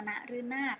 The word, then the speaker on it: นฤนาท: หลัง เนาะ หนู คะ เด็ก ๆ อ่าน ว่า นรึ นา รึ นาด นะ คะ นฤนาท โอเค ป้าย ตาม หลัง พ.